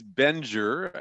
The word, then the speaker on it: Bengier: The last name is Bengier, and actually it's French Huguenot, goes way back